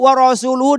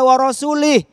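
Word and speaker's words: وَرَسُولُهُ: Oh ternyata bacanya banyak yang keliru. Wa rasuluhu dibaca wa rasulih.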